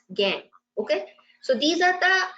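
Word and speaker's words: gangue: is G and gu it is uh pronounced as gang okay so these are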